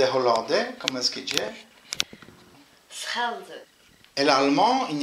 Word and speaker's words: Schelde: Schelde.